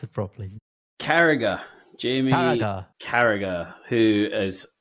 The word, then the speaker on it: Carragher: Even I can't even pronounce it properly. Carragher, Jamie Carragher.